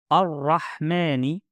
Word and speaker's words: الرحمن: Bismillahi Ar-Rahmani We have natural elongation in word Ar-Rahmani two counts.